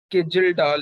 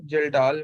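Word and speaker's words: Kjeldahl: ठीक है, तो ये के से है, बट इसको के जेल्डाल नहीं पढ़ना, के साइलेंट हेयर, जेल्डाल मेथड।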